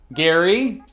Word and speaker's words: Gerry: Gary, which turned into Jerry for some reason, plus salamander equals gerrymander?